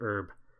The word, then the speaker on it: herb: can drop down an herb distributor. Well, I think Americans say it herb, or someone says it herb, but I know in Ireland, where I'm from, we say herb. Like the name herb.